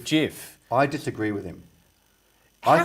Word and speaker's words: GIF: invented gibbs images has finally come down and said how that's meant to be pronounced and it's meant to be pronounced jeff i disagree with him